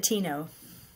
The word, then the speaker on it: Dateno: Is it Dateno? How do you Oh, pronounce it, we say Sister? it Dateno.